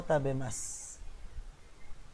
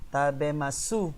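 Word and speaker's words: 食べます: That's masu. But if you pronounce it, that is sakana o tabemas.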